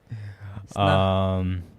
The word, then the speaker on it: Snah: You gotta pronounce the H. Snah.